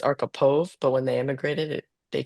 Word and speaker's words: Archipov: it's actually well, you could say Arkapaw. I think Arkapaw. it's my husband's last name, but they changed it. It's Archipov, but when they immigrated they changed it to Arkapaw, you know?